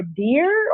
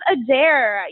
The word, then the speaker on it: Adair: Is it Adair or Deer or? It is Adair.